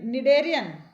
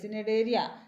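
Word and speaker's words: Cnidaria: तो जो एनिमल, जैसे कि स्टारफिश, इकाइनोडर्मेट्स, पोरिफर्स, निडेरियन, सी साइलेंट रहता है ना, CNEDAREA, सिनेडेरिया, सिनेडेरिया नहीं लिखा जाता लेकिन पढ़ा निडेरिया जाता, तो वो प्रोनाउंसिएशन हो जाता गड़बड़।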